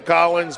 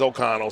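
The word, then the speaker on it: O'Connell: and we apologize that we were pronouncing uh ok connell's name wrong we were calling them Collins but we we we uh we understand his name is oconnell so we apologize Carter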